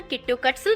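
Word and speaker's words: キットカット: जापानी में किटकैट का उच्चारण किट्टोकट्सु जैसा लगता है, जिसका जापानी अर्थ है आपका पास होना सुनिश्चित है।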